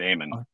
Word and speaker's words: Eamon: But since you're here now, is it pronounced Eamon? Am I pronouncing that correctly? Yes, sir. You got it right, Eamon.